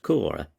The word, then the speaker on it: Coire: Coire, pronounced Cora, is the capital of the canton of the Grisons, and is a bishopsy.